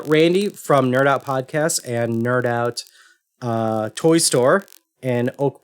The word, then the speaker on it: KnerdOut: so randy has the nerdout podcast which focuses on toy collecting i guess yeah i'd say i'd say it verges the the webcast is nerd out with a k uh silent k uh yeah i think